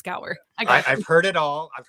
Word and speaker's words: Gower: guest on today and his name is Brian Gower I hope I did not completely like just